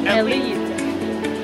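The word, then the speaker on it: Eslite: I know there's an S. Alright, so if you want to pronounce it as Eclipse, it's also okay. But people say that it's from ancient French, so you should pronounce it as Elite.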